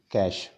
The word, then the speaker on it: cache: Cache memory, actually it is pronounced as cache memory, written as cache, cache.